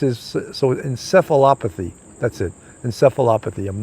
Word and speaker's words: encephalopathy: cephalophobe it's encephalitis is so encephalopathy that's it encephalopathy i'm not a scientist you could see i had a real tough time pronouncing that word so um that's what that